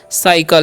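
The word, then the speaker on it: cycle: सी तो यहां पर सी के बाद आई वाई रहता है और ई रहता है तो उसका चान स हो जाता है तो य पर होगा साइकल इसे हम क्या पढ़ेंगे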